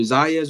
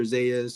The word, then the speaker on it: Zayas: Xander Zayas or Zayas. Yes, yes, you said it right.